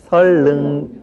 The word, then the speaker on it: 선릉: 역 이름에 선릉역이라는 역이 있죠? 네. 예. 그 발음할 때 어떻게 합니까? 그 안내방송에서 설릉 그렇게 나옵니까? 예. 그게 맞는 말이죠. 그런데 일반적으로 우리가 선릉 이렇게 또 많이 발음을 합니다.